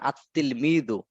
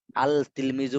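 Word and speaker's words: التلميذ: যেমন আত্তিল মিদু, আল তিলমিজু বললে হবে না, আত্তিল মিদু।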